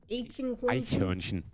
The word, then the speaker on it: Eichhörnchen: Eichhörnchen. Wait, say it again. Say it again. Eichhörnchen. Hornchen. Chin. I butchered it.